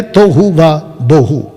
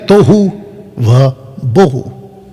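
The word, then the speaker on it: תֹהוּ וָבֹהוּ: Colour में, लिखा है तोहू व बोहू। प्रोनाउंसिएशन आगे पीछे हो सकता है, लेकिन इसको ये कहते हैं तोहू व बोहू, जो भी है, जिसका अर्थ है उथल पुथल।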